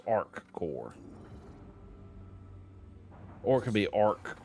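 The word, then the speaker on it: ArcCorp: I'm saying it wrong it's not our core it's Arc core or it could be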